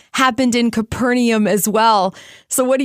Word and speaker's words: Capernaum: fishing Village several times sometimes you hear Capernaum other times Capernaum I actually like the one with the fourth syllable so we're gonna go with Capernaum Jesus did many miracles